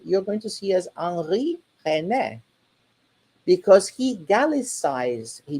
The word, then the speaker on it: Henri: don't see Heinrich Heine, but you see Henri Heine, with even the pronunciation that he would have in French for his name, but he's actually German.